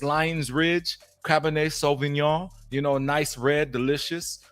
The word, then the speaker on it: cabernet sauvignon: for the drink segment what i'm drinking is cabernet sauvignon that's right i pronounced it correctly it's lions ridge this is